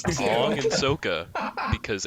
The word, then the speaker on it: Sokka: Ong and Yeah. Sokka, sir. Sokka. Pronounce them right. Yeah, I forgot, my bad. I forgot they messed up the names too. Ong and Sokka, because M.